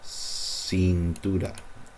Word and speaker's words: cintura: Se enrollan en la luz de tu cintura. This C is also an S sound.